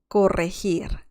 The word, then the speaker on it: corregir: This is corregir, corregir. And you have to roll your R's here.